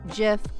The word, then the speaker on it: GIF: be big old files GIF sometimes pronounced GIF we're not going to